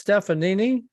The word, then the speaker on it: Stefanini: I want to make sure I'm pronouncing your company name correctly. It's Stefanini.